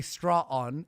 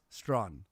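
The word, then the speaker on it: Straughan: You say straw on, it's Strawn.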